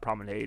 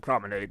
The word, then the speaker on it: Promenade: Promenade it looks like Promenade but it's pronounced Promenade that's an old British term uh let's go out for the Promenade actually it might be French I think it's French actually like its origin all right let's go